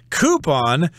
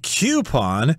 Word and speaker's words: coupon: Coupon could also be pronounced coupon. They're both correct.